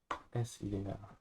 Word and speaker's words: ideal: spelled and try and pronounce each of those vowels as they are written. I like ink, Ideal. E like elephant, A like apple.